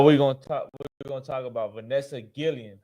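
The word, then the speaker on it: Guillén: So now we're gonna talk about Vanessa Gillian. How you say her name? Guillen.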